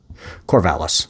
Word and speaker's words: Corvallis: What about this Corvallis? He pronounced the double L as a Y, put the accent on the last syllable, and made the city sound far fancier. Corvallis, Serge corrected, an hour and a half.